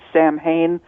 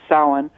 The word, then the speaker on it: Samhain: si ma che I M so if you pronounce it Samhain really off on that it's pronunciation is sullen it is a very holy day it's the